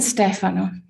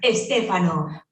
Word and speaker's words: Stefano: Every time I hear Stefano, because you think it's an Italian name and you have to pronounce or to accentuate the second last syllable, it's actually not so with names. Estefano.